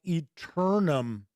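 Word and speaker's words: Aeternum: Flaming Heron says they believe it's called Eternum. The A is silent.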